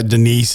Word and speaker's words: Denise: say like standard normal white people names, but pronouncing it as if it was like all right, D Nice. Typical. Yeah, Denise is Where's like D Nice.